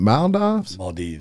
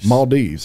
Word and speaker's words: Maldives: you go my is it mound out and mildoffs maldives i was close i'm a beach guy yeah